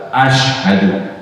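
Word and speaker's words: أشهد: Nah ashadu itu pakai shin Pak, shin itu yang titiknya 3.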